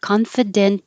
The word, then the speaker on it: confident: Confident as always. And it's going to change to a D because it's between two voiced sounds. Confident as always.